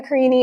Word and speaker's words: Carini: Carini, yes, Carini. you did it right. Yeah, it sounds like martini.